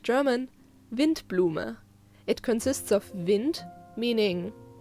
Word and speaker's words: Windblume: Next is the Windblume Festival, or in correct German, Windblume. It consists of Wind, meaning, well, wind, just with a softer W, and Blume, meaning flower. So, Windblume means windflower.